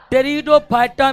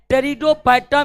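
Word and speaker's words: Pteridophyta: एक है थैलोफाइटा, दूसरा का नाम है ब्रायोफाइटा और तीसरा का नाम है टेरिडोफाइटा में पी अक्षर जो है वो साइलेंट रहता है। टेरिडोफाइटा में पी अक्षर जो है वो साइलेंट रहता है दोस्तों।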